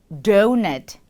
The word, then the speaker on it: donut: 도넛, 도넛이 아닌 donut, donut, donut.